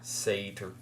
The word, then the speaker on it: satyr: Satyr.